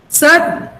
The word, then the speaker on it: certain: Certain. You pronounce it certain. So the stress mark is here.